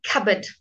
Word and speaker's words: cupboard: okay okay so now cupboard cat but can you hear there's no Pete cupboard and notice Oh a